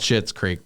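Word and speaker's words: Schitt's Creek: good i've enjoyed it it's called shit's creek but it's spelled s-c-h-s-c so we're not cursing here yeah she was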